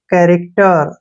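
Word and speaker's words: character: है ना आप देखिए एक्सेप्शन बताता हूं आपको कैरेक्टर देखिए ये मैंने लिख दिया कैरेक्टर ठीक है ना इसमें क्या है सी एच है ना ठीक है सीच इकट्ठा है तो यहां पर च तो नहीं पढ़ते इसको क पढ़ रहे हैं तो ये एक्सेप्शन होते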